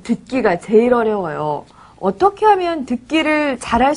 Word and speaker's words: 어떻게: 그리고 또 어떻게는 어떻게라고 쓰지만 발음할 때는 어떻게라고 발음합니다.